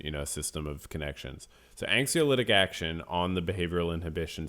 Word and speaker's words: anxiolytic: So anxiolytic action on the behavior. I don't even know if I'm pronouncing it. Anxiolytic.